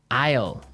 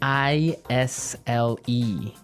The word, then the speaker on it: isle: spelled so strangely right we don't pronounce the S the S is silent that's true ale so